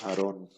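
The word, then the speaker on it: אַהֲרֹן: El Hatef Pataj, que es el Sheva, que lo acompaña un Pataj y siempre se pronuncia como A, ¿no? Como en el caso de Aarón.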